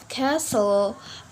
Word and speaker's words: castle: letter is letter T letter T can also be silent and some word like listen Castle ballet solvent Gourmet um Christmas and whistle yep we not pronounce the letter T in this word the next letter is